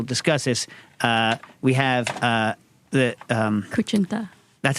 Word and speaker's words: kutsinta: We have the Kuchinta. That's how you pronounce that?